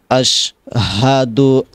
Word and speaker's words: আশহাদু: আপনি যদি বলেন আশহাদু আল্লা ইলাহা ইল্লাল্লাহ, অর্থাৎ হাট আপনি ছেড়ে দিলেন, হবে না, ভুল হবে। বলতে হবে আশহাদু আল, আশ হা, হাটা উচ্চারণ করতে হবে। আমরা শুনছি আশ, অনেকেই বলেন আশহাদু আল্লাহ, এভাবে আশহাদু আল্লাহ হাটা ছেড়ে দেয়, এখানে হা উচ্চারণ করতে হবে, না হলে আপনি একটা অক্ষর ছেড়ে দিলেন।